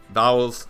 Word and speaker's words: Vowles: team principle James vowels vowels spelled like vowels but l-e-s not e-l-s got me so James